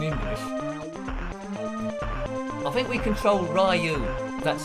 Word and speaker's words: Ryu: I think we control Ryu. That's how you pronounce him.